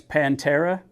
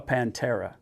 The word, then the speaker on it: Panthera: a treat uh this is the new FX Pantera spelled panthera but whatever or not they pronounce it Pantera panthera I'm just going to tell you right now the gun is called a Pantera and that's that there's no there's no change